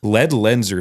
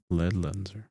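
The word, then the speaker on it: Ledlenser: gear especially for this year how do you pronounce it Le lead lenser so it's l l n s r and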